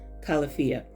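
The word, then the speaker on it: Califia: It's the Calafia, or Calafia, however you want to pronounce it. I pronounce it Calafia.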